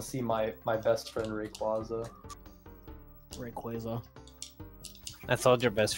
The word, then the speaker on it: Rayquaza: don't know i mean it's pronounced rayquaza oh okay well in spanish is reikwasa i think that's how that's also how i pronounce it probably ted because in